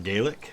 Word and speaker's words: Gaelic: over scotland so um garlic culture uh that's how it's pronounced in scotland is my understanding rather than gaelic which is what it is in ireland one of my many